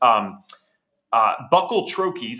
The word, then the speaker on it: buccal troches: His formal titles include, there's some pretty cool ones, COO of Troscriptions, a line of physician-formulated, pharmaceutical-grade, and precision-dosed buccal troches. I think I pronounced that right.